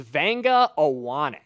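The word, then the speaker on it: Vega Ioane: Give me the pronunciation of this name because I always struggle with it. Okay. So, this is Vanga Aane. Wa Aane.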